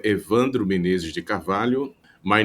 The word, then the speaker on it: Carvalho: Carvalho, this lyo could be a little bit difficult.